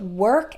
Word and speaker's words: work: work and world is they are spelled with an O but it doesn't really sound like an O that o R has an O sound same as in the word bird or heard that's the past tense